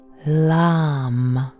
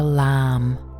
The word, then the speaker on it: LAM: with the Bija mantra LAM. Only one syllable from the three letters L, A, and M. We breathe in deeply and gently, and with the beginning of the exhalation, we sound the mantra LAM.